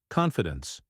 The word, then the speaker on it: confidence: Confidence, confidence. Make sure to stress the first syllable.